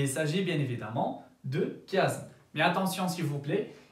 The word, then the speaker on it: chiasme: s'agit bien évidemment de chiasme. Mais attention s'il vous plaît, et si on écrit CH mais on ne prononce pas le son CH, on prononce KE, d'accord? Le chiasme et non pas le chiasme.